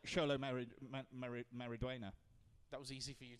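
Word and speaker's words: Xolo Maridueña: Is a sh sound. So. Oh, X yourself then. Right. Yeah. Because it's like Sholo Mariduena.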